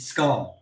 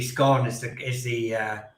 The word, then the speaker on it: scone: Elizabeth II, pronounced it scone." So I was like, if you're speaking the Queen's English, technically scone Yeah. is the correct way of pronouncing it.